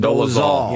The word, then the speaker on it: Dolezal: Dolezal.